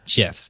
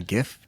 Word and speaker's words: GIF: I'm I'm not gonna I've always been a gif person it's okay to be wrong it's not drafted because my phone trivia question over and over again I think the Creator tell me why pronounces it like that but he was wrong tell me why though like why is it Jeff I don't know why it just is because because of what